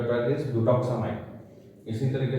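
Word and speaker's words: Butoxamine: This is the pronunciation of the drug is ब्यूटोक्सामाइन।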